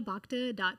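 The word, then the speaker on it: Bhakta: Uh, it's Baka. PFT. Can you spell your last name? Yeah. B H A KT A. Beautiful. Yeah. The Asia is silent.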